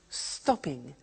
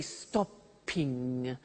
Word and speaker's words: stopping: becomes stop stopping now notice that in English pronunciation when there is a double consonant we don't hear it in the pronunciation so for example we don't say stoping or swiming okay not like other languages so the pronunciation stays